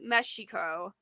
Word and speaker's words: Mexico: that's the proper pronunciation depends if you think about the Aztec pronunciation is meshiko so it's meshiko that's